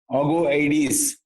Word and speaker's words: Augoeides: It was called AUGOEIDES, Agoeids, meaning luminous. That incorruptible, imperishable, immortal soul was called AUGOEIDES. The pronunciation of it is Agoeides, meaning luminous.